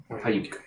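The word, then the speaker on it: Paiyuk: Payuk. Hold on. It's spelled Payuk. P-A-Y. Or sorry, P-A-I-Y-U-K. Payuk.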